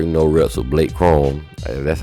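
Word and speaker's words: Corum: got to share you no reps with Blake Chrome that's how you say his name so he's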